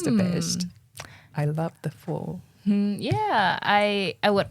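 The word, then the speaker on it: phở: Is it pusu? It's pho. Pho.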